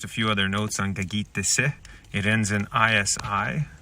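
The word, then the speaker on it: kâkîtisi: So last night I came across the word gagitese.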